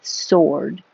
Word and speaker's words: sword: is mightier than the sword and when you see this word with a W in it you don't have to say the W it's just sword weird Angel an angle